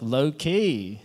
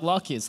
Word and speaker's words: Loki: oh it's also like Loki transactions and even if you like mispronounce it like walkies like that sounds super